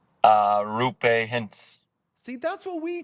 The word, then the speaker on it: Roope: Okay, And first then we heard it was Roope. Then we heard like maybe it's like Roope, as you said, get the R going. And then I think it was the NHL pronunciation guide listed it as Ropa. So I just went for that, and everyone was like, that's not what it is.